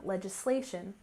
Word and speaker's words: legislation: and finally we have legislation with stress on the third syllable legislation legislation which refers to laws